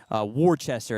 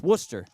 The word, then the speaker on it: Worcester: A lot of play probably say Warchester. It's Worcester as that ball misses up and a four pitch walk to the catcher.